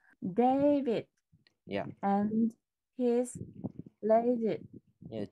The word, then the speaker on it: David: Trọng âm rơi vào âm day cho mình đọc. David. David.